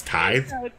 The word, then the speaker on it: tithe: say that oh ty did i say teeth yeah see that's what i mean pronunciation is my kryptonite man so it's tithe it's yeah it's just a type tithe yeah it's what you